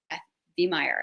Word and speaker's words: Beth Veihmeyer: interview with my friend Beth Veihmeyer. Am I pronouncing your name right? You are. Mm-hmm.